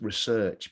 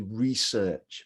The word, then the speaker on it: research: is a valuable skill notice it's research because it's a verb remember if this was a noun it would be research because the stress is on the beginning so research